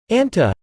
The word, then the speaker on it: anta: You can see how moving from nasal, into, s, doesn't create a, anse, sound but rather, a softer way to pronounce it is, anta, so you want to remember this for later.